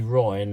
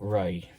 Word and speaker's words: Ray: got my name wrong keep calling me Ryan not Ray and I wrote and he wrote to me several times and I said my name is Ray not right I'm not a piece